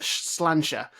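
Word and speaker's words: sláinte: quite slight the adventure games the dark side pronounced slanta the uh the adventure game is the dark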